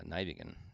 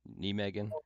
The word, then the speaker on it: Nijmegen: yonder um above uh nigan nean correct pronunciation nean okay don't look at